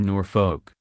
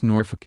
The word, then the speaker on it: Norfolk: happy to be in Norfolk pronouncing the second syllable as in folk music the Princess Royal shot her a withering look and told her it's Norfolk as in nor f-ck secretly Anne was pleased that